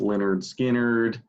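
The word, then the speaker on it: Lynyrd Skynyrd: wouldn't but you could um second helping after pronounced leonard skinnard countdown to ecstasy after campfire thrill and uh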